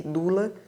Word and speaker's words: doula: Unidos nos Estados Unidos esta doce palavra foi adotada pronuncia-se Lula e proliferam as escolas